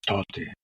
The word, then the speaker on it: Tate: People call it colloquially Tote Mamalushin, because Tate, meaning father, in that area is pronounced Tote.